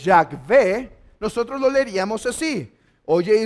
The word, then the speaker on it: Yahvé: Ahora, si creemos que la pronunciación de Jehová, la más correcta es Yahvé, nosotros lo leeríamos así.